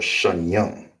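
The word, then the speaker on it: שניים: in the second way for how do you say two in Hebrew is sha it's like a sha I will be showing you right. Shya or Shany. Those are the two ways to say to in the Hebrew.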